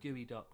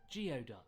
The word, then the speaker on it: geoduck: Also, it pains me to admit it, but for the longest time, I thought gooey duck was pronounced geoduck, because that's how it's spelled.